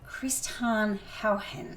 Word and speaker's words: Christiaan Huygens: I'm going to try and pronounce this right. You will. It's Christiaan Huygens.